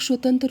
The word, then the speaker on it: स्वतः: इसका प्रयोग स्वतंत्र रूप से नहीं होता, यह वर्णों के बाद प्रयोग होता है। इसका चिन्ह 2 बिंदु होता है। इसका उच्चारण हा की तरह प्रयोग होता है, ये भी याद रखिएगा।